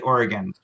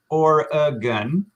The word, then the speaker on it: Oregon: pronunciation here oregon right i say oregon right only two syllables you can also say or a gun like the number one